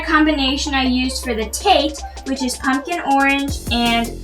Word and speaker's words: Tet: today you learn how tate rhymes with light and how its numerical